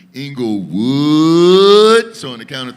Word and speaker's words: Englewood: for two seconds and pronounce inglewood the way that you actually say it and that is englewood so on the count